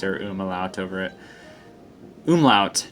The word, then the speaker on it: umlaut: Immel out over it oom lout not uma lout I've been saying it wrong for like ten years or